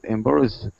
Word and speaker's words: embarrassed: The pronunciation, the last word, embarrassed. Embarrassed. Mm-hmm. Okay, I'll say embarrassed. Embarrassed. Yeah, and then the stress is on the second syllable.